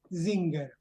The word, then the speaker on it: Singer: capítulo un de Singer y es zinger se pronuncia zinger tiene tiene su explicación bueno empiezo David te